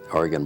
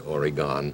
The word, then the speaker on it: Oregon: Farms isn't that funny you said Oregon that's U that means you came from another state but California why well let not pronounced Oregon it's true we call Oregon Oregon Oregon I'm sorry about that